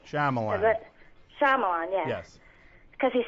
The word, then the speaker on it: Shyamalan: I can't pronounce his last name. Shyamalan.